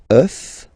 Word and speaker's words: œuf: Then, un œuf, des œufs.